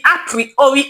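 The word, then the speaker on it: Apriori: The appriori algorithm. It is spelled as a p I p sorry it is as a r i o r i.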